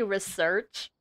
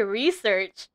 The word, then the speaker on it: research: did he just say research people actually pronounce it like that wait I say research emphasis on the E this is I rarely